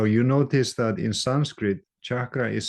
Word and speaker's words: cakra: the chakras now you notice that in Sanskrit chakra is spelled differently than in English in English we